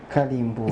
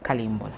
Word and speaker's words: Kalimbola: When you're saying my name, say it slowly. Not like you're rushing. No, you're not. Kalimbola. It's Kalimbola.